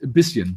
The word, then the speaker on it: bisschen: Can you pronounce bisschen? I can't figure it out. It's bisschen.